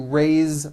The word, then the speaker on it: raise: Raise, meaning like to raise my hand. Now this word is a bit unusual because even though it is spelled with an S, it's pronounced with a voiced Z.